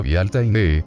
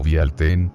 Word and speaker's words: Bealtaine: la palabra gaélica irlandesa actual Bealtaine, que se pronuncia Bealtaine, nombre del mes de mayo, y a la palabra gaélico-escocesa Bealtuin, pronunciado Bealtaine, que significa 1 de mayo.